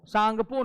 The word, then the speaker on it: सांगपो: सा प कहते हैं सापो सांगपो नहीं जी साइलेंट होता है जी अरुणाचल प्रदेश में